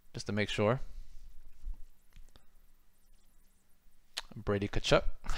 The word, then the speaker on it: Tkachuk: Brady Tkachuk. The all too common TK beginning of a last name.